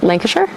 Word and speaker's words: Lancashire: already stressed about that just like hampshire lancashire lancashire lancashire sure like not shire sure hampshire hampshire link uh sure